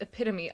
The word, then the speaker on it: epitome: That's only how you would pronounce it if you're pronouncing things phonetically. That's true. After reading it, because else you would know that it's epitome.